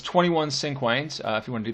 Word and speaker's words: cinquain: So a 5-line stanza is called a cinquain. I will spell that here at the top for you.